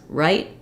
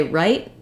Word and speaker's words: write: right and ride so when I say right I keep my vowel short I have an unreleased T sound but the way you know it's a t and not a d is that that vowel is pretty short um she write she